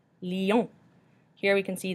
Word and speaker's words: lion: Lion. Lion. Here we can see the L-I, the I makes the E sound that we discussed before, and on makes the on sound at the end.